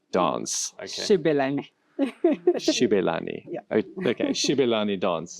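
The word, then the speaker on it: Xibelani: Okay, I'm going to mess up the pronunciation, but it's the traditional Gibelani dance. Okay. Shibelani.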